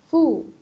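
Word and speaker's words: ふ: ini seperti yang tadi kalau huruf H ini enggak ada hu hu tapi adanya FU jadi H hihi huhu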